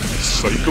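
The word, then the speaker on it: 最高: is our information well phonetically psycho is pronounced like the word psycho in English so we're looking for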